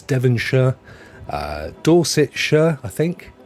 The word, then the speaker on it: Devonshire: in England is known as something sure we pronounce it sure Devonshire is where I live uh I mean some